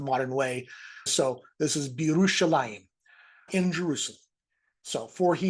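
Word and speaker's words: בירושלים: The bet means in, and Jerusalem on its own would be pronounced Yerushalayim. But when you put this preposition on the front here with a word that begins at a yod, it kind of all slides together, and this becomes Birushalayim.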